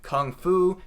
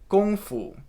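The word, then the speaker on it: 功夫: in loan words like kung fu tai chi or kung pao chicken note i'm pronouncing these like an American would the correct pronunciations are actually gong fu tai ji gong bao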